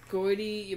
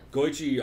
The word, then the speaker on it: Goiti: Is that how you're going to go ahead and pronounce Goichi Yamauchi's name? Is Goiti Yamauchi? Oh, Yamauchi, Shapauchi. Yeah, you nailed it. Definitely Goichi Yamauchi. Oh, Yamauchi. Yeah, I see it now. It's Goichi also.